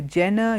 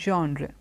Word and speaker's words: genre: books okay and this one word you hear Jenna you have Jonna you have different things the word is actually pronounced genre jean-jacques is this good as there's a sound